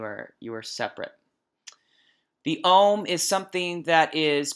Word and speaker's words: Om: syllable of ohm and that's why it's spelled om because ohm but but the AUM kind of captures the length of it you look if you said all those letters if you pronounce all those letters you get that longer sustaining home of ah so the UM that's what that's really how it's in tone and it's also a